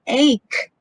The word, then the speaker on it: ache: corrected them many times i told him why are you saying hhh it's ache but is it all